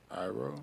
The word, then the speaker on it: Iroh: I can never pronounce Uncle's name. From Last Airbender. Iroh. Arrow.